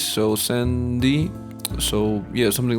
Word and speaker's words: S.F.3.D: Japanese, also pronounced S.F.3.D, because apparently san is pronounced 3 in Japanese, so san-di, so yeah, something like that.